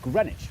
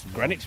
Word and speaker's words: Greenwich: This is the East London suburb of Greenwich, where you don't pronounce the W or one of the E.